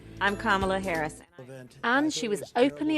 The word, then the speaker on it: Kamala: of substance pamela it's not kamala it's not camella but she still had to teach the country how to say her name i'm kamala harris and she was openly attacked by the